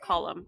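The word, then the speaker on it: Colm: you know like like Cole meanie thank thank God gets to shine sorry his name is pronounced colum colum colum meanie who's a you know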